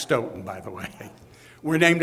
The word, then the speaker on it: Stoughton: in Stoughton Massachusetts and it's pronounced Stoughton by the landing we're